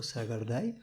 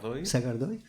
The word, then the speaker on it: Sagardoy: En un caso, no sé cómo se pronunciará tu nombre bien, Eneko Sagardai, ¿así? Sagardoy, que es un actor,